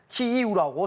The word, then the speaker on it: 키이우: 국립국어원은 우크라이나어식 발음에 따른 한글 표기법은 키이우라고 설명합니다.